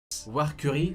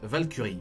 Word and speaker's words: Valkyrie: Warcurie se prononce Valkyrie. Valkyrie, Valkyrie.